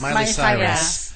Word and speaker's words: Miley Cyrus: Miley Cyrus.